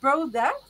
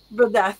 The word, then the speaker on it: Brodeth: on live but um is it bro or B or how do you say your name the second one the second one was correct BR yeah brth okay so it's Ivan brth how are you Ivan